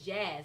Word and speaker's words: Jazz: My name is Jazz. Like you would initially think of the music.